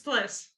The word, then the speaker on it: Plis: How's it pronounced? It's Plis.